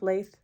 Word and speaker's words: Lathe: I worked on my lathe cardigan. Lathe. I always mispronounce that. I think lathe is with an E at the end, and lathe is how it's pronounced.